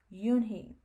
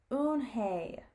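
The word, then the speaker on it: Unhei: it's spelled u n h e i it's pronounced yoon he oh it's oon hey the boy said like you hey what what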